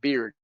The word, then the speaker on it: beard: La barba, beard. Beard like beer, like como cerveza.